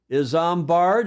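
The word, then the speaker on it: Isambard: up to that point is zard is how you pronounce that Kingdom Brunell what a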